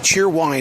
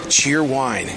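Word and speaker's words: Cheer Whine: Cheer Wine is a southern drink that was created in Salisbury, North Carolina.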